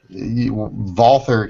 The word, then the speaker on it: Walther: yes Walter you Walter Walther can be acceptable but yeah posting a l this is America pronounce it the way we pronounce it